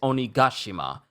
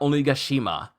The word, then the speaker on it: Onigashima: been pronouncing it because the way they enunciated in the sub is onigashima it's not only gashima I feel like I've